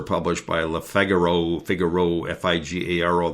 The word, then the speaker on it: Figaro: His comments were published by La Figaro Figaro Fi G- A R O that is pronounced Figaro, a reputable French newspaper.